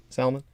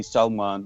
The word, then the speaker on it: Salman: way you prefer it salman yes my brother so um you know my family calls me salman with my pakistani pronunciation and then my friends in america they call me salman or sal like so whatever is comfortable